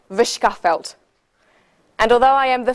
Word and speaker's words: Verschaffelt: My name is Versefeld, but you could correctly pronounce that Vishkafelt.